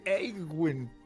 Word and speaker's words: Yuen: Welcome to the Yuen Tavern. Yes, that's how you say it.